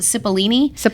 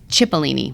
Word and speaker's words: Cipollini: about oh ciprianis oh so see no I called it Cipollini it's chipolini Cipollini okay we obviously like ciao like you know like chipolini you pronounce this CH I was like someone